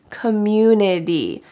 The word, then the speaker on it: community: local government community community notice that this t changes to a d in american english community i love the community